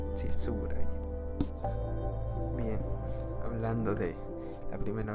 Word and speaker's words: Tsuburaya: Y no sé si pronuncié bien el nombre, es Tsuburaya. Sí, Tsuburaya.